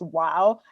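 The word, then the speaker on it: و: So I'm including Arab lettering, and like there's an Arab letter that's like W, and it's pronounced wow.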